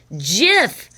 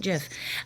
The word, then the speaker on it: GIF: Next up, we have GIF.